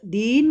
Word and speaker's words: दीन: तो यह उच्चारण गलत होगा, क्योंकि यहाँ पर दीन का अर्थ दुर्बल, कमज़ोर होगा। दिन और दीन शब्द युग्म है, लेकिन अर्थ दोनों के भिन्न है। इसीलिए उच्चारण स्पष्ट होने चाहिए।